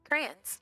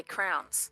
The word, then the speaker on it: crayons: So, so your pronunciations don't count, Zerg. Crayons. Crans. Crans. Yeah, it's crans. Growing up we used to say crowns.